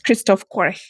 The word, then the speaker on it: Christoph Quarch: Welcome to the podcast, Kristoff Qu.